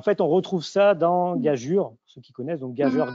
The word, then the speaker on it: gageure: Et en fait, on retrouve ça dans gageure, ceux qui connaissent, donc gageur, gageure. Donc c'est écrit EU, c'est censé se prononcer U.